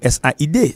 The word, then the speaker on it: said: ou ca dit Said tout S A I D ça se prononce Said ça se prononce Said.